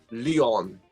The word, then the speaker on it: Leon: right so okay and how do you say in german your name uh it's very similar it's just leon you just a little bit different lyon okay i'm gonna try